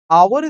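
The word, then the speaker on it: hour: at this H start with H एच तो आवर start with consonant sound तो एच है वो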